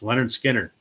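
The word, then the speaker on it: Lynyrd Skynyrd: mentioned in the comments Leonard Skinner pronounced Leonard I mean it's a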